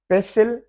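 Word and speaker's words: pestle: पेसिल, पेसिल, T silent है।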